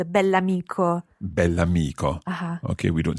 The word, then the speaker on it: bell'amico: Il bell'amico. Il bell'amico. And it's very important to pronounce the adjective and the noun as one word, bell'amico.